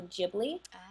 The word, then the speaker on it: Ghibli: studio that's how the studio pronounces it they pronounce its studio jibley so I know that according to the Italian